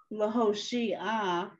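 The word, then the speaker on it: להושיע: Lahoshia. Right. The ayin doesn't make a sound. Right. Okay. This one, the chet makes a sound, but you pronounce the ah first.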